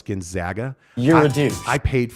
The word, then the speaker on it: Gonzaga: you put in the word Gonzaga uh Google pronounces it Gonzaga so that's how we pronounce Gonzaga and Gonzaga flip you lady she was right